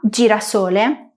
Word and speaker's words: girasole: Es curioso como en J nos pasa un poco lo que veíamos antes con el sonido y es que muchas palabras que tienen este sonido en italiano y en español se escriben igual o casi, pero se pronuncian de manera diferente. Giraffa, girasole, legítimo. Recuerda que G + I en italiano es un sonido dulce.